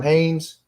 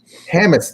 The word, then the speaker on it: Hammes: Well, winner on this one was Adam Haynes, which I'm probably mispronouncing his last name because I'm very good at mispronouncing names. Yeah, it's Adam Hammes. Hammes. I was close. I wasn't close.